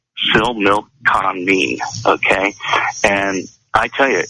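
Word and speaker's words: Similkameen: i l k a m n and it's pronounced Sil milk con me okay and I tell you it was one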